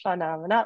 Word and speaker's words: Funomena: great so um uh my company is called phenomena as you all know uh pronounced f-f-u-n-o-m-e-n-a phenomena like a lot of people get it wrong